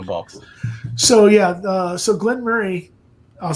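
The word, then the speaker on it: Glen Moray: this is one of those annoying ones everyone pronounces it Glenn Mor as it reads on the box but it's actually Glenn Murray it's one of those annoying ones that it's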